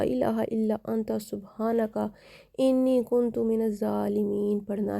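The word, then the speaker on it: كنت من الظالمين: कुछ लोग एंड पे जो सेंटर में आता है ना, कुन्तु मिनज़ ज़ालिमीन, कुन तुम पढ़ लेते हैं, तो वो गलत हो जाता है।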